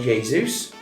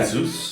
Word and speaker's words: Jesus: And it's Manchester City's Gabriel Jesus. Yeah. Jesus? Yeah, Jesus. Why did he never call him Jesus? Because that's how it's spelled, isn't it? But the pronunciation is a H, don't they?